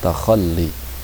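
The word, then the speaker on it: تخلي: Ini dibacanya takhalli.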